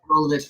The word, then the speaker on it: Rolovich: I think is it Rolovich? I don't want to say it wrong, but Rolovich. Yeah. Rolovich.